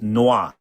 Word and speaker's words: noir: The proper pronunciation is noir.